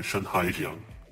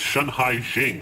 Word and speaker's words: Shanhaijing: The Moonlight Festival is a traditional annual festival here in Shanghaijiang. Wait, it's Shanhaijing, sorry.